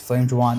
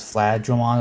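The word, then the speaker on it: Flamedramon: Flame Dramon has a slight name change because in Japanese it's actually spelled without the ME in the name. So, its name is Flad Dramon or something, but how the Japanese people pronounce it, it sounds like he's saying Flame Dramon.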